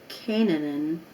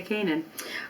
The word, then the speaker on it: Canaan: There's 3 syllables. And into the land of Canaan. It's hard to say it that way. Let's just say Canaan.